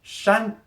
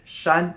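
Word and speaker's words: 山: like flames next at number 11 we have shun which is mountains again very simple very easy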